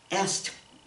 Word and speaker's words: asked: Asked, asked.